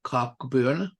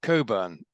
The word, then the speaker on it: Cockburn: with the Reverend Norman cockburn yes Coburn oddly enough that's how it's pronounced like in kubern's Port